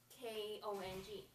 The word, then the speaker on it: Kong: my name is Kong, like King Kong. Do you know what the name of King Kong, the movie?